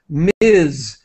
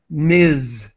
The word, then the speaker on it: Ms: is single or married they use Miz which is pronounced like this Miz it's Ms what does mean ases